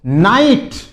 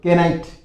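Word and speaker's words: knight: फिर देखो नाइट। यहां पर के साइलेंट रहता है। इसको क्या बोलते हैं? बहादुर या योद्धा। बहादुर योद्धा। नाइट। बहुत से बोले केनाइट केनाइट नहीं होता है नाइट इसमें के साइलेंट रहता है फिर देखिए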